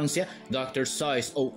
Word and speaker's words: Seuss: prononce en fait "Docteur SOISE" ou "ZOISE" Et l'explication de ceci est en référence aux origines germaniques de l'écrivain Tout comme "Soice" rime avec "Voice" Voice en anglais Et il y avait